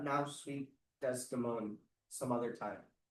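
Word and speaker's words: Desdemona: Sweet Desimone some other time. Just like a nickname for the mostly because Shakespeare doesn't want to give up that extra syllable.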